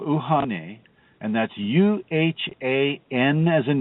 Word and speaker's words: Uhane: The middle self is spelled, it is called Uhane, and that's Uhan as in Nancy, E.